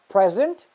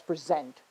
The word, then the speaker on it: present: Whenever you're using the word as a noun, you will stress on the first syllable.